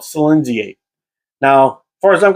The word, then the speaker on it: Silinxiate: Now, I actually had to go on to Google, type in the name, and actually push the push the speaker button to figure out how to pronounce it. But from what I could tell, it's called Silinxiate.